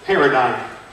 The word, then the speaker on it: paradigm: The word is pronounced paradigm.